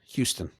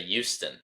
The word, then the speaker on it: Houston: Do you pronounce the H in Houston? Yes, Houston. Good. Me, too. Okay. Some people say Houston.